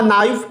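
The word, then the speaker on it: knee: The teacher has shown the diagram of अ नी, नी बच्चे इसमें के साइलेंट है, म्यूट है, और एन जो है वो कॉन्सोनेंट है इसलिए आ इस्तेमाल किया है।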